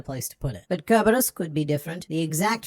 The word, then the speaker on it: Cerberus: But Kerberos is a Latin word, and in Latin you pronounce the C as a K. So it's Kerberos.